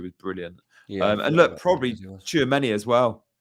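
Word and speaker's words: Tchouaméni: And look, probably Tchouameni as well. I always pronounce that wrong. Is it Tchouameni? No, that's right. Yeah, you were right.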